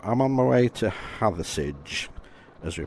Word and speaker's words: Hathersage: So I'm on my way to Hathersage, as we pronounce it here. It rhymes with garage, not with farage. So it's Hathersage, and it's a lovely town.